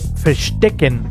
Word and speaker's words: verstecken: Y se pronuncia como F. Por ejemplo, verstecken.